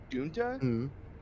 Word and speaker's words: DUUNXHAHH: I had an idea of naming a bunny Dunta, DUUNXHAHH. What? Yeah, it's pronounced Dunta.